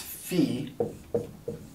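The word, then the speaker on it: في: in Arabic is the preposition in which is pronounced Fe like a fe from the government and uh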